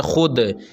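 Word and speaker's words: خود: बर्राक skin खुराक नाजरीन कुछ ऐसे अलफाज़ होते हैं उर्दू में के जिनमें कुछ हर लिखा जाता है मगर वह हर साइलेंट होता है मतलब मतलब उसको पढ़ा नहीं जाता है जैसे आप यह देखिए खुद असल में है खुद लेकिन इसको हम पढ़ते हैं खुद इसी तरह खुश लेकिन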